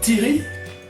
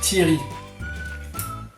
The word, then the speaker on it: Thierry: Et il me dit mais tu dis Thierry? Et j'ai dit oui. Alors il s'avère que ça se prononce Thierry. Là, j'aimerais qu'on en parle. On ne dit pas Thierry.